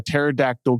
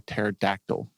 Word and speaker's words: pterodactyl: Why can't you hear a pterodactyl go to the bathroom? Why can't you hear a pterodactyl go to the bathroom? Because the P is silent.